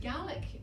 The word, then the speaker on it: Gaelic: But if you're speaking about the Scottish language, our mother tongue, we pronounce it Gaelic in this country, which I can no